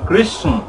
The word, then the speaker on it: কৃষ্ণ: যদি চৈতন্যের জ্ঞানে চলতে চান, সত্য সনাতনের জ্ঞানে চলতে চান, তাহলে আপনাকে সঠিক উচ্চারণ কৃষ্ণ কৃষ্ণ, এখান থেকে ইয় উচ্চারণটা এই বিন্দু পর্যন্ত